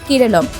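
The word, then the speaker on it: കേരളം: মালয়ালম ভাষায় রাজ্যের উচ্চারণ হয় কেরলম, তবে পিনারাই বিজয়নের সরকার চাইছেন কেরলের নাম কেরলম করা হোক।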